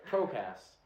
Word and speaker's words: Procast: Yeah, I said it right. Procast. Welcome. Procrast. It's not a lisp. It's not saying procrastination.